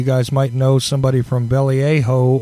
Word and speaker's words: Vallejo: might know somebody from belly a hoe or something I believe that's a pronunciation California who I know is listening on the stream now he's on a screen Vallejo yeah who am foo